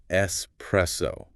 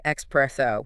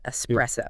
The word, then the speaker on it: espresso: listening, it is pronounced espresso. Notice the S sound. Yes, great point. A lot people accidentally say expresso with an X, but we want to avoid that. Just a soft S, espresso.